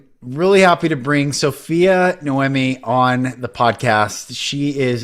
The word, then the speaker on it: Noemi: It is Noemi. So pronounced Noemi.